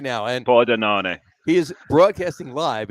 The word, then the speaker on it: Pordenone: It's La Beer Samurai because he's coming to us right now from Pordenone, Italy. From here, I'm going to throw this up right now. Pordenone.